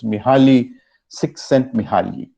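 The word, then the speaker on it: Mihály Csíkszentmihályi: It is actually pronounced as Mihaly Csikszentmihalyi.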